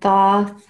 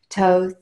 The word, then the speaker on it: Thoth: connection with him yeah so Thoth or toast many people say his name in different ways I learned Thoth and then when he started coming through and the divine transmissions he said Toth is in the Egyptian